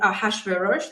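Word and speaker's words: Ahasuerus: a a Persian king a hash veros this is the way it's comfortable for me to pronounce his name and he had a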